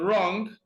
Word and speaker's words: wrong: silent be wrong no even though you have W in wrong uh W is silent because whenever W comes before r prevails see we are 12